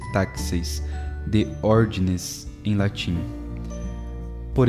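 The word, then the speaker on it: τάξις: desde os tempos primitivos de taxis em grego pronuncia-se taxis de ord em latim por exemplo a liturgia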